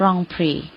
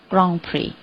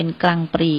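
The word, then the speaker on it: Grand Prix: i x จริง ๆ คำ ๆ นี้ ค่ะ มา จาก ภาษา ฝรั่งเศส นะ คะ เขา ก็ จะ ออก เสียง ว่า กอง พี กอง พี แต่ ว่า เดี๋ยว เ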